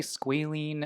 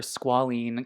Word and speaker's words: squalene: product i'm going to use is the ordinary squealing or squalene cleanser i should say i always pronounce it mispronounced things but this is the